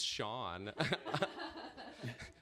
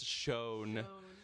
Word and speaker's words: shown: She keeps asking me, who is Sean? Because it should be, the word is shown.